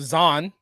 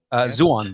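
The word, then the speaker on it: Zaun: The oppressed underground of Zon. Zuon, but that's okay.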